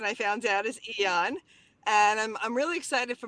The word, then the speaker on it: Aeon: Some people say Ion because it's Aeon, but the proper pronunciation I found out is Aeon.